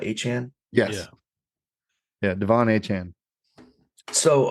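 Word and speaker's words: Achane: from Tua Tu uh how did he want to be pronounced aan aan like 4chan but aan yes yeah Devon aan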